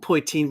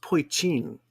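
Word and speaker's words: poitín: No, it's called it's spelled Poitin, but I think it's pronounced Poitin.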